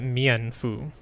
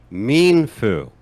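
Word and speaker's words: Mienfoo: the martial arts pokemon i always pronounce that mian fu but i like this little guy what do i know oh oh we can get the official pronunciation correct pronunciation hold on oh my god yes we can we need to buy that book it is yeah oh wait hold on a second let's see mean foo mean foo and i mean with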